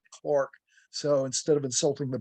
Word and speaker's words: Clerk: to 1781 when John Clark of Scotland it's spelled clerk but the Brits pronounce it Clark so instead of insulting